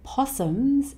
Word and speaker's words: possum: Possums, like kangaroos and koalas, the plural S here sounds like a Z.